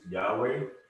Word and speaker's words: Yahweh: that's the tetragrammaton and it's pronounced when we pronounce the name of is yahweh so when you see this is just a